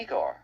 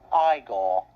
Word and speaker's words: Igor: You must be Igor. No, it's pronounced Iiggore.